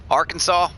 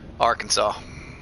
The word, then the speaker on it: Arkansas: Arkansas, we're just going to take the whole state,